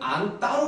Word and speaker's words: 안다: 근데 그 의문이라고 되어 있는 표, 다시 말하면 맨 윗칸을 보시면 아기를 안따는 안따로 발음이 돼요.